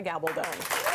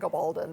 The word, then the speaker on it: Gabaldon: Yeah, well, you would probably believe the various things that I hear, Gabaldon being the usual atrocity. No, I tell people it rhymes with bad to the bone.